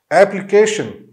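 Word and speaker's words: application: एप्लीकेशन, एप्लीकेशन, इसमें भी long जो है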